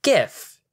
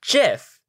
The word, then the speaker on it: GIF: It's pronounced GIF. No, it's pronounced JIF.